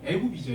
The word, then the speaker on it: 애굽: 애굽이죠, 애굽. 이집트를 히브리어로 발음하면 애굽이 되겠습니다. 에집트, 애굽 이렇게 되죠.